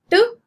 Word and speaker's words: tube: When a consonant sits between the letters U and E, the letter U is pronounced as long U and the letter E remains silent.